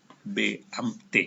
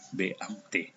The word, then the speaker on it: Beamte: Beamte, cara bacanya ini ya. Beamte.